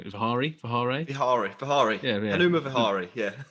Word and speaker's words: Vihari: Jack, in terms of some of the other players in there, Vihare is. I'm going to say his name wrong. Vihare. Vihari.